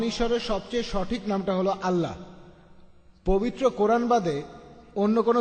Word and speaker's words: আল্লাহ: এ এল এ এইচ তারা বলে এলা আমরা বলি আল্লাহ আমি যখন স্কুলে ছিলাম